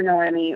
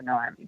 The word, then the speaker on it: Noemi: So these worlds that have evolved, the characters, it's Noemi, right? Did I say it right? Noemi? Yeah, I Noemi. think so. You can pronounce it either Noemi or Nomi, but I go with Noemi personally.